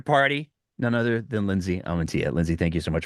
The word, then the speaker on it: Amantea: It's all of the A's are pronounced the same. Amantea? Amantea.